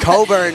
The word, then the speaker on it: Cockburn: How do you pronounce it here? Coburn. Coburn Ice Arena. Nothing else, nothing more, nothing less. Coburn.